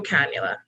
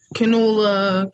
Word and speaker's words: cannula: this is a nasal cannula one depends on how you want to pronounce it canola it's cannula but you'd be surprised so